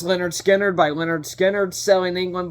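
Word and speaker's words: Lynyrd Skynyrd: Holy by Led Zeppelin pronounced Leonard skinnard by Leonard skinnard Selling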